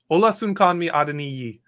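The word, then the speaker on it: Olasunkanmi Adeniyi: thought it was just a danny dang yeah hola soon called me adeniyi uh the only pause i take on this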